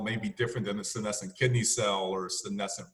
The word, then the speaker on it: senescent: How does a cell become, how do you pronounce this again? Senescent.